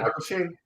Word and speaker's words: Michael Sheen: Yeah, Michael Sheen.